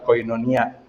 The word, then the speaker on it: koinonia: ibu ya koinonia sendiri Ini adalah kata Yunani ya bacanya adalah koinonia yang ketika kita Terjemahkan